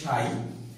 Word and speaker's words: psi: আমরা এটিকে ইংলিশে এর বানানটি হচ্ছে PSI, কিন্তু আমরা বাংলায় উচ্চারণ করি এটাকে সাই।